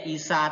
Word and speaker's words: Isa: Isa itu kan paling akhir kan hurufnya adalah huruf alif maksurah, nggak mungkin dibaca IC ya, IC aneh dong. Jadi ya Isa tetap Isa, Musa ya Musa bukan